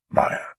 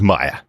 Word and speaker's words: Maya: episodes but H you are right Kingpin does pronounce it correctly May Maya Maya so that's how we should be pronouncing it Maya so we'll try our best yes exactly thanks